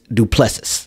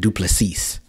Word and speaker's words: Du Plessis: it in the comments they say you pronouncing D's name wrong it's the the one of the letters in the in is silent so it's dupus dupus yeah but I was pronouncing it dupes I would pronounce dupes